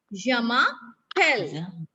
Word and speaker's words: je m'appelle: The pronunciation of Yamapel. Yamapel. Like we say bell, bell in English. Similarly, we call it here pel.